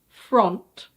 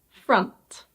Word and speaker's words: front: I know it looks like "frohnt", but the O here is actually pronounced "ah". So this is: front.